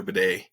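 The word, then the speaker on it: Badie: But it was nice to see Denver finally get something going in the run game with Tyler Bidet, which is how I guess he wants his name pronounced, weirdly enough.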